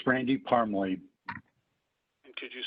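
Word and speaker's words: Parmley: name for the record please yes it's randy parmly could you spell that for the court reporter certainly that's r-a-n-d-y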